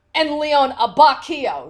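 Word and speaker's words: Abbacchio: Leon like uh Leon a bocce Oh apparently that is wrong it is actually more su carro and Leon Ibaka oh so the H is silent I don't know if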